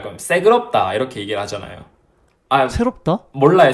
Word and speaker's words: 새그럽다: 새그럽다. 맞아요. 대박이다. 저희는 새그럽다라고 했어요. 시끄럽다보다는 된 발음이 들어가니까 새그럽다. 약간 이런 느낌.